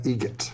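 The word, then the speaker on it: Eget: Adam Egget. Egget. Spelt differently. Like the bird. That's Egret. Do you know what Adam Egert has in common with a guitar player? Adam Egget has in common with a guitar player.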